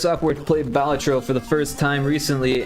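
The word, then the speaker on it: Balatro: yeah I can see playing uh batro would be cool or at least that's how the dev pronounced it I know everyone else calls it batro and honestly that's how I read it for a long time but then I heard a podcast of the dev talk about apparently batro is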